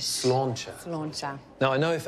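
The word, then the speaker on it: sláinte: Slauncher. How do you say it? Slauncher. It means good health in Irish. Slauncher.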